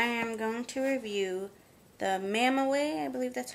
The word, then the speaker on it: Mamaway: anyways today i am going to review the mama way i believe that's how it's pronounced m-a-m-a-w-a-y it's a belly band nano bamboo